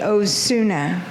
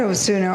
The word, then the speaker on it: Osuna: And then my dear friend, another friend said, "Please, not Osuna or later, say Osuna the better."